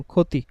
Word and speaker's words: ক্ষতি: ঠিক আছে, আরেকটু ক্লিয়ার করে লিখতে গেলে আমরা লিখতে পারি, মনে করেন লিখলাম ক্ষতি, তো ক্ষীয়টা শুরুতে, তার পরিবর্তে শুধু কি বসাবো? খ বসাবো, রস্বইকারটা রস্বইকারই থাকবে।